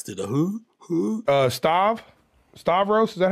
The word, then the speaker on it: Stavros: that he tries to the who uh starve Stavros is that how you say his name yeah